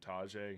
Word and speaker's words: Tajay: Now, I think they actually pronounce his name Tajay.